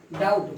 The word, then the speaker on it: doubt: ये आपका स्पेलिंग है DOUBT, DOUBT। लेकिन इसमें बी जो है आपका साइलेंट हो जा रहा है। यह है आपका डाउट, वो उसमें से हट गया। डाउट, थम, बी साइलेंट हो गया।